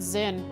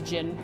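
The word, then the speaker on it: Zin: I always have said Zen and unless someone had told me yeah until now I wouldn't have known that it was pronounced as Jin cuz there's no way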